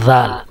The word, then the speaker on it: ذال: وہ ہے اذهبی، اذهبی۔ زال کو جو پروناؤنس کرتے ہیں، وہ زبان کی نوک کو نکال کر کے اوپر کے سامنے کے جو دانت ہے اس کے بیچ میں پھنسا کر کے زال کا تلفظ نکلتا ہے، زال۔ اذهبی، زبان کی نوک کو سامنے کے اوپر اور نیچے کے دانتوں کے بیچ میں زبان کو رکھ کر کے ذال ہم بولتے ہیں.